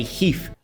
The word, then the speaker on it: HEIF: 48 megapixel heif photos or should I say Heath they pronounced Heath users can now shoot